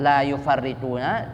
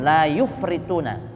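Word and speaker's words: لا يفرطون: Wa quriya, dan dibaca bisukunil fa'i, dengan disukunkan huruf fa-nya. Berarti bacanya bukan la yufarrituna, tapi dibaca sukun, la yufrituna.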